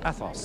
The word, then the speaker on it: Athos: in The Three Musketeers, playing the role of Athos. That is the correct pronunciation, isn't it?